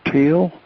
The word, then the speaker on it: Teel: And I met his brother, Thon, Thonn, and his brother, Donn, Don, and this lovely lady by the name of Teal, which is spelled Teel.